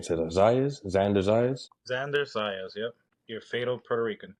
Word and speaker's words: Xander Zayas: Xander Zayas, yep.